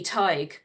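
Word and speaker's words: Tadhg: um so yeah and you might not have realized that when you saw this word written down that it would pronounced Ty it's a bit of strange one and you do sometimes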